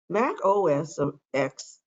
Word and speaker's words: Mac OS X: for the macintosh computer mac os of x and the x can be pronounced either as 10 or the letter x is an operating system